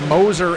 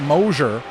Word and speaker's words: Moser: finally told me that it was Moser and not Mosier.